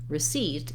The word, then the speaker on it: receipt: in recently by contrast in a word like receipt even though it starts with the same letters as recently the seat syllable is stressed and so my first